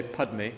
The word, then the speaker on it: Padme: So like they can't say Padme, they say Peme.